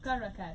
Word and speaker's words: Karakvrt: How should I pronounce the name? Karakvrt. Karakvrt.